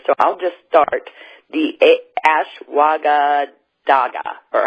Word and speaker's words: ashwagandha: to mispronounce it so I'll just start the a schwa gah dah gah or how do you pronounce that Susan uh-huh move the tongue one time - maganda ashwagandha Brut okay so explain that a little bit